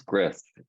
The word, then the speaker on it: Gristh: So this is Gris, spelled Gristh. So you have to kind of hiss a little bit to say his name.